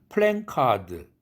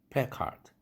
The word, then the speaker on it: placard: 우리는 플랜카드 요즘 선거철이라 플랜카드를 많이 건다고 하는데 현수막이라고 하는 우리 말이 있죠. 그런데 플랜이 아니라 플랜입니다. 플래카드. 플래카드라는 말을 굳이 현수막이라는 단어 안 쓰고 싶다면 플랜카드라고는 하지 마세요. 플래카드입니다. 철자가 엥 모음이 없습니다. 자음이 없습니다. 엥 사운드는 플래카드.